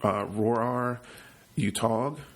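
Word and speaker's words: Roar Uthaug: started becoming an adventure movies directed by her pronounces of name correctly he's an oral norwegian director his name is roar are you tog most of his films this is his first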